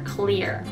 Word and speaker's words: clear: クリア。クリア。クリア。そうそうそうそうそう。あのちゃんとエルの時に舌を出して。